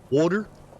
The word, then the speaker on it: water: Water. Like pronouncing the T like a D, water, is definitely a New York thing.